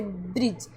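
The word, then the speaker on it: bridge: जैसे ब्रिज अब इसको ब्रिज ब्रिज नहीं पढ़ना। यह है ब्रिज। क्यों? क्योंकि यहां पे डी साइलेंट है। जी का ही प्रोनाउंस हो रहा है।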